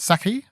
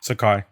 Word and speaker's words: Sakai: Saki or Sakai? Saki? Sakai.